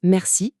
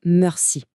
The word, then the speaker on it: merci: Ici, le E est coincé entre le M et le groupe RC. C'est pour ça qu'on prononce merci et pas mercy.